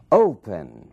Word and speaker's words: open: Open. Opening. Mesmo caso. Open. Ali na primeira sílaba é que está a força dessa palavra, é que está a sílaba tônica.